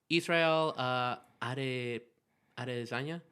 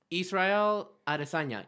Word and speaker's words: Israel Adesanya: Are you familiar with Israel Adesanya? Hold on, I gotta look up. How do you pronounce The Brazilian dude? No, not the Brazilian dude. Hold on. Chileno? Israel Adesanya.